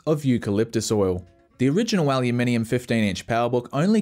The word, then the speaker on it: aluminium: powerbook g4 and yes that's pronounced aluminium here in australia not aluminum anyway this bridged the